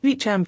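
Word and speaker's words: Beauchamp: know anything about bioethics I know it is pronounced bechamp even though it is spelled bamp oops I'd better not make that mistake again anyway Beacham and CH rest published their book while at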